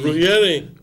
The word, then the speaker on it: Ruggieri: Rosario Gomez as chairman and how you pronounce his name again, Pa? R-U-G-E-R-E? R-E-G. Ruggieri.